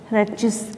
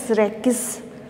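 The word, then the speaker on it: rachis: टीएस ऑफ रेचिस, इसे रेकिस depends on pronunciation, Hindi में कहते हैं पिच्छाक्ष।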